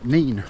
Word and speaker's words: Nene: Um, but it we also have a bit of the Nin or the nen, however you'd like to pronounce it, and I've been told there's a few nice carp in there.